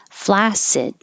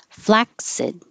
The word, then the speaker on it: flaccid: 23 divination divination 24 flaccid or flaccid with a k oh booths this th